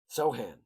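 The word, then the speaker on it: Sochan: Sohan. It's how it's how it's phonetically spelled on Bass Reference. So, that's how I'm gonna say it.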